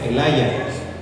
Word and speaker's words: Elijah: Jeremías, Elías, de hecho el nombre Elías en inglés es Elijah, en inglés ellos así lo pronuncian, y lo dicen, y lo pronuncian Elaya, ¿sí?